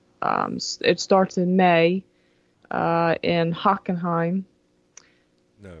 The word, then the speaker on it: Hockenheim: So their schedule right now is it starts in May in Hockenheim. No, he's got to say it right. It's Hockenheim. Yeah, whatever. Hockenheim.